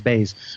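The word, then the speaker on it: Baze: um baz m b baz I I have to I remember it rhymes with blaze that's it that they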